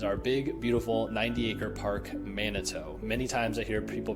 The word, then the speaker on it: Manito: realtor that you want to be close to Manito.